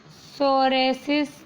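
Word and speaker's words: Psoriasis: देखिए लिखा हुआ है सोरेसिस नाम की, पी साइलेंट होता है ना, सोरेसिस नाम की एक डिजीज़ होती है, उसको क्योर करने में एक कैप्सूल यूज़ होगा।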